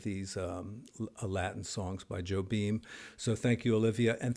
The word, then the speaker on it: Jobim: like that by Antonio Carlos ho beam no Joe beam yes got to get those pronunciations right lest we offend the